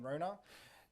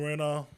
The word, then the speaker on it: Rona: And my cousins would probably bash me for saying Rona, because that's not how you pronounce it. It's Rona.